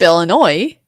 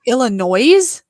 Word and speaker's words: Illinois: okay I do think Illinois when I'm spelling it I say Illinois not noise but I do think Illinois when I spell it yes go oh my